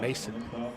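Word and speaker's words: Masyn: It's spelled M-A-S-Y-N, Mason.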